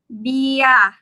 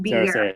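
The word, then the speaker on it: เบียร์: Bia, not beer, right? Bia. Bia. Right. Bia. So we're not pronouncing the R, and it's just the B sound plus the ya.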